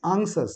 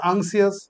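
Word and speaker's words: anxious: parents দে scene very আনসাস দেখো এইটা উচ্চারণ অনেকে বলবে আনসিয়াস আমি আনসাস বলছিস আনসাস মানে কি উদ্বিগ্ন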